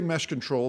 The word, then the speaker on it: MeshCtrl: control it's actually it's i say mesh control but in reality it's spelled mesh mtrl mesh control and you hit enter